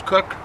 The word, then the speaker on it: Koch: K-O-C-H, sometimes they pronounce Cook, but it's K-O-C-H is spell his last name.